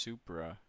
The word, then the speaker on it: Supra: it's it's it's called It's pronounced Supra even convince him to